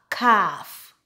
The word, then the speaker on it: calf: If we have the combination ALM, ALF, and ALK, typically the L in the word is silent.